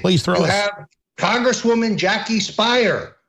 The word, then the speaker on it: Speier: throw half congresswoman Jackie Speier rhymes with liar running around saying all